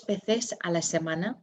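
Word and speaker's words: veces: once a week and remember our v's are pronounced as b so it's um number six dos bethes and you'll see we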